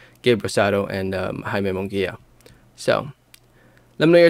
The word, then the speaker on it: Rosado: to the mass public uh compared to gabriel soda uh or sado jesus why am i mispronouncing his name gabe rosado and um so let me know your thoughts